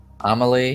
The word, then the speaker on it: Amelie: And he looks down, and it's from Amelie. Am I pronouncing it right? Amelie, yes.